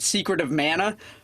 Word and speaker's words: Secret of Mana: about was 1993's, and there's a lot of argument about how you pronounce it. I pronounce it Secret of Mana, but I actually Googled it before we did the show to find out what the proper... Yeah, that's apparently what the consensus is.